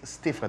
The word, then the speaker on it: stiff: My neck is stiff가 되는 거죠. 그렇죠. 발음 주의하셔야 돼요. Stiff 이렇게 긴 발음이 아니고요. 단 그 발음이죠. 단 몸이죠. 네, stiff. 해볼까요? 시작. Stiff. 짧게.